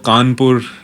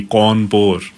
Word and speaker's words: कानपुर: उसी हिसाब से जब कानपुर शहर का जब स्पेलिंग लिखा जाता था अंग्रेज़ों के ज़माने में, तो CAWNPORE, कौनपुर, उस हिसाब से होता था। उसको चेंज करके जैसे आम हिंदुस्तानी बोलते हैं कानपुर, KNPUR, तो वो चेंजेस लाए गए।